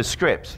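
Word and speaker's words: Cycript: a ridiculous name because it's pronounced script it's not written like that at least in my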